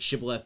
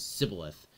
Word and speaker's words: shibboleth: in Hebrew it's like shibboleth versus sybilith and so they would sometimes they would pronounce it with an sh and the aphramites would